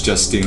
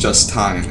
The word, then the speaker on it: Justine: to like see Justine I'm pretty sure it's Justine I doubt it's pronounced justtin CU that's just [